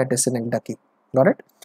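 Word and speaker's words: synecdoche: Important, that is called सिनेक्डकी। सबसे पहले तो you should be able to pronounce it clearly guys. सिनेक्डॉकी नहीं होता guys, it इज सिनेक्डकी, इट इज सिनेक्डकी। गॉट इट? डकी आपको बोलना है, सिनेक्डकी।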